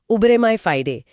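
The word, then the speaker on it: uberrimae fidei: जैसे कानूनी भाषा में शायद उबरे में फाइडे कहा जाता है। अरे वाह आपका उच्चारण तो बहुत सटीक है। हां उबरे माय फाइडे।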